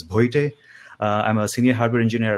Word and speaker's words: Bhoite: My last name, if you are unable to pronounce, it's Bhoite.